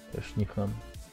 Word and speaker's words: Нихон: Нихон, Соул, здорово. Или как у тебя вот ник произносится? Да, правильно произнес. Нихон.